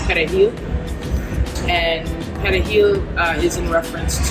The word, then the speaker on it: perejil: If you can't roll your R's, that means you don't have any Spanish background, that means you're Haitian, you gotta go.